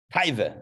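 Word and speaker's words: תאווה: 412 also happens to be the same numerology as the Hebrew word Ta'aveh. Taiveh, as we would say it in Hasidic pronunciation.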